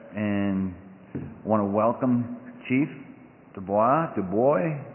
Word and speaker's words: Dubois: I say Du Bois, but a lot of people say Dubois, and I just Du Bois. roll with it.